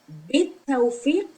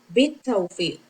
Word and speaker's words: بالتوفيق: Bit tawfiq means with good luck. And when we add ba, we don't pronounce alif either. Bit tawfiq.